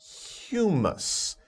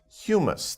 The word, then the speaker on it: humus: this word before it's humus humus the pronunciation is humus sometimes people get a little confused about that but humus think about another word that's pronounced very similarly but is a different word hugh man but this